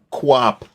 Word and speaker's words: Coupe: Stanley Quap. It's It's an easy one. That's the French pronunciation. That's how they say it.